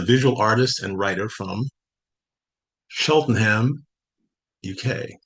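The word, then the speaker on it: Cheltenham: Oliver Smith is a visual artist and writer from Sheltonham, UK. Not sure if I pronounced that correctly.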